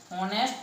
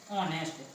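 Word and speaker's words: honest: नेक्स्ट Mukesh, नेक्स्ट वो कर रहा है ये वाला, Mukesh is हॉनेस्ट man. Mukesh, इसको देखो कोई कोई क्या पढ़ता है हॉनेस्ट, लेकिन एक्चुअली में इसका सही प्रोनाउंसिएशन है ऑनेस्ट।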